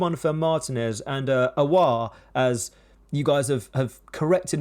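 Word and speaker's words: Aouar: for martinez and uh awa as you guys have corrected me in the comments of how to say his name it's not ayore that's that's in the past award we'll go with hussam awa can you confirm with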